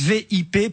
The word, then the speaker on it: VIP: On nous avait promis des VIP, c'est sûr, mais il ne faut pas le prononcer à l'anglaise, mais bien à la française, VIP, pour vrai inconnu pecno.